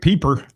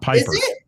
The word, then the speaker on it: Peeper: Peeper. I said it right. It's Peeper, not Piper.